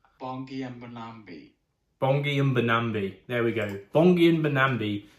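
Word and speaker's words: Bongi Mbonambi: Why do I need the Catalan pronunciation? Bongi Mbambi. Bongi Mbambi.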